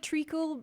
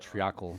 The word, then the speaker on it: treacle: it's kind of like treacle, but treacle's a bit. Don't know what that is either. I've always heard it triacle, but I think I just never heard it pronounced before.